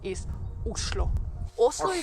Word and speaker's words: Oslo: of no and actually in Norwegian the right way to pronounce the name of the capital islo a great starting point